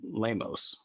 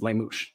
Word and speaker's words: Limouche: You know, at first I was calling him Lamos, which was a very lame way to say his name.